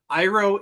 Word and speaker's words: Iroh: Because Iroh is the correct pronunciation in the show.